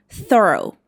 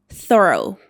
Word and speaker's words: thorough: It should be pronounced like thorough. Thorough. I love this sound.